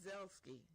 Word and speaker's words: Zalesky: So now I'm very excited right now to have in the studio live and in color and in person Zalesky. Zalesky. No, I said it right.